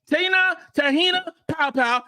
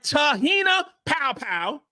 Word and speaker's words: Te-hina Paopao: best in the world that is unbelievable okay T tah popow gota say it right tahina powpow is the best shooter in college basketball bring